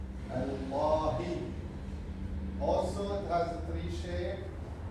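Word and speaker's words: الله: We don't pronounce the first L, we don't say Al, no, we say Allah.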